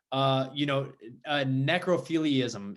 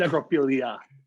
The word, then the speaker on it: necrophilia: Necrophiliism. Is that how you say it? Necrophilia.